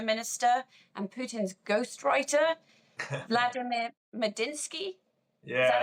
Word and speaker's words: Medinsky: I mean, I'd never heard of this man who was leading the talks, the Russian former culture minister and Putin's ghostwriter, Vladimir Medinsky.